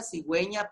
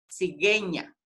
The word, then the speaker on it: cigüeña: Luego tenemos el uso de la diéresis, sinvergüenza, cigüeña, paraguas, que era lo que les explicaba, que si le quitamos la diéresis, diría sinvergüenza, cigueña.